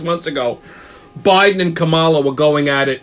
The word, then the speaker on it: Kamala: They're calling her Kamala. Half of them times it's Kamala.